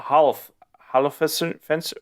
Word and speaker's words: Holofcener: Written by Ben Affleck and Matt Damon and Nicole Holofcener.